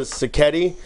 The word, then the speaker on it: sacchetti: This morning, this fine gentleman will be preparing, get ready, a spring vegetable sacchetti pasta. Sounds good. Yeah, did I pronounce it correctly?